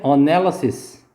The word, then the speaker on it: analysis: 분석하다는 analyze고 얘 명사가 이제 추상 명사가 하나 있고 사람 명사가 하나 있는데 둘의 발음이 또 헷갈려요. 동사는 analyze였죠. 강사 이름절. 그 다음에 분석은 강사 이음절에 있어요. 얘는 analysis.